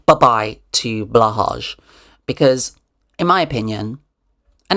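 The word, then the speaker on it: Blåhaj: posited this idea that blahage, people were telling me in the comments that I was saying it wrong. I was pronouncing it wrong. It's spelt blahage. People say it's supposed to be blow high.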